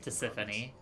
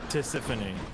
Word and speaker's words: Tisiphone: Tisiphone. I think is the pronunciation on the other Fury's name. I'm gonna Google it. Trash. I'll show you progress. Meg, Electo, or yeah, Tisiphone.